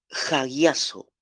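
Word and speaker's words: ἁγιάζω: latina a Z o jagyazo J a g y latina a Z o jagyaso jayaso suena como algo no como gallinazo como como algo de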